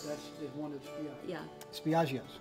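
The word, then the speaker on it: Spiaggia: Spiaggio's, correct?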